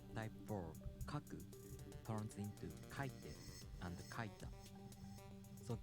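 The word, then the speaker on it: 書いて: verb kaku turns into kaiten and kaita so the accent falls on ka kaite if a downstep type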